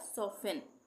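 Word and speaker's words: soften: लिसन उसके बाद सोफेन सोफेन में एफ टी इ एन एक साथ आ रहा है तो टी साइलेंट हो जाएगा सोफेन सोफेन नहीं पढ़ेंगे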